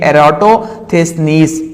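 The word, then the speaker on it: Eratosthenes: एरेटम ये एटस नीस इसको हम यूं प्रोनाउंस करेंगे एरथ स्निस तो ये एटो फस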